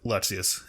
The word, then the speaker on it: Lexaeus: Okay, how do you pronounce this? This one? Lexaeus? Well, yeah, the organization form, Lexaeus.